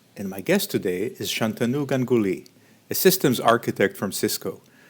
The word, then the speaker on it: Shantanu Ganguly: do you do oh my name is uh shantanu ganguly i currently work for cisco systems in uk